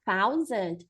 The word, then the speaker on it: thousand: Ah, e aí lembrando que aqui, esse thousand, a gente vai colocar a língua aqui, ó. Thousand, thousand, tá?